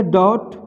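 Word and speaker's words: debt: हैं ना, ये देखिए ये टी से पहले अगर बी है तो यहाँ पे देखिए टी से पहले बी है तो बी साइलेंट हो जाएगा, तो इसको पढ़ेंगे डॉट, तो डॉट माने शक होता है।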